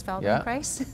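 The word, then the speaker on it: Feldenkrais: what was it called it was called Feldon Christ oh I see okay so it rhymes with Paradise Feldon Christ yes yes yes very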